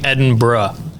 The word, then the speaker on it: Edinburgh: gonna guess enberg so it is actually Edinburgh Edinburgh so I got the first part yeah it's Ed Ed in and then bruh I got you now